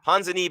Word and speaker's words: Ponzinibbio: Ponzinibbio.